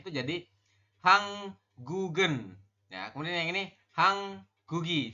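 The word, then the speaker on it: 한국은: Perubahannya jika ditambah dengan partikel subjek maka dibacanya itu jadi hanggugen. Ya, kemudian yang ini hanggugi seperti itu. Bukan hangguk bukan hangguk en, tapi hanggugen seperti itu. Jadi gioknya ini naik ke sini nanti dibacanya.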